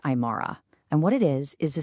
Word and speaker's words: AImara: First off, it's pronounced AImara.